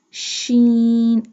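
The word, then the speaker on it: شين: Tha, alif, sheen, alif, sheen. Sheen sound like a whistle sound.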